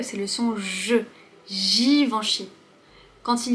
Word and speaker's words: Givenchy: Givenchy. Girafe. Ensuite, on a le son en. Givenchy. Le son ch. Ch. Suivi du Y qui se prononce comme un I.